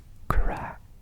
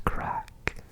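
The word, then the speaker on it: craic: first one for you but crack is spelled c r a i c yeah like crank what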